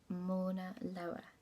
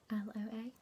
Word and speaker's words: Mauna Loa: It's, I would pronounce it Mauna Loa. Mauna Loa.